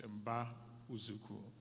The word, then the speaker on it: Mba Uzuku: For those who can try to pronounce it, it's Mba Uzuku. And so the O is a bit silent. You turn it into a U, and then you can speak to it.